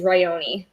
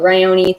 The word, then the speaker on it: Ryoni: only difficult one is ryoni um because people want to pronounce it ryon but the e on the end does make an e sound so ryoni the main character is